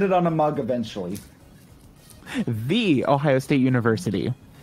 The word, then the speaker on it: The Ohio State: the ohio state university which is apparently how you're supposed to pronounce it oh it's not ohio state it's the ohio state whenever i say the ohio state peoples get so persnickety about it it's it's like